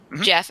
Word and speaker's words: Geoff: depth to it Geoff Johns I say you pronounce his name right yeah Jeff okay yeah I really liked his writing he